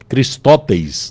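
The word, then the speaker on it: χρηστός: traduzido por benignidade lá a pronúncia dela seria cristes né que significa a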